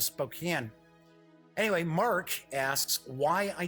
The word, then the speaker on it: Spokane: mark in Spokane Washington I know some people pronounces Spokane but when I've been through Spokane everybody calls it Spokane so I don't know I'm going with spoke in anyway mark asks why